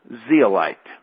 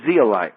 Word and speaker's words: zeolite: up is our substance would be the right way to say is zeolite now zealite just happens